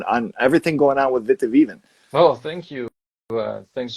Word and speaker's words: Witte Wieven: on uh on on everything going on with Vitivven. Well, thank you. Uh thanks so much. And you're also pronouncing it perfect.